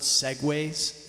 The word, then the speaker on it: segue: Now, one of the things so there's this thing, and it's very big in the jam band world, which is called segues. It's spelled S-E-G-U-E.